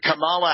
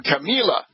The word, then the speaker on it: Kamala: expressing admiration for the campaign kickoff of Senator Kamala Harris of California, who drew thousands of supporters. Quote, I would say the best opening so far would be Kamala Harris, he said, pronouncing her first name Camila.